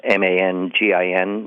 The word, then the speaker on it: Mangin: named Joseph Francois Mangin, M-A-N-G-I-N, now pronounced locally Mangin.